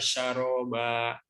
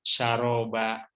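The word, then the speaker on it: شرابا: Ayat 24-nya la yazukuna fiha bardaw wala syaroba. Hampir sama apa ya? Saroba dengan syaroba. Nah, ini tentu pelafalannya harus berbeda, ya.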